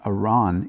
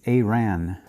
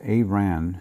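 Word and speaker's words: Arawn: this anomaly uh 15810 uh Iran it's not Iran it's aan and uh I you have to excuse me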